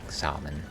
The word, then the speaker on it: salmon: a wad of like salmon salmon as they say the L is silent we're counting on you